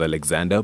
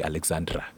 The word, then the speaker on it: Alexander: I spell that l-u-o and my name goes as Alexander but the weirdest thing is in South Africa a lot of people say Alexandra I had a radio